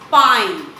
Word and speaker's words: pine: So pin becomes pine.